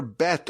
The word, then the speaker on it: Bet: The word Bereshis begins with the letter Bet or Beis, depends on how you pronounce that letter.